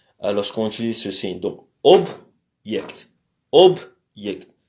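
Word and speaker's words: объект: Donc object, object. L'accent est sur le consonne b et sur le yect.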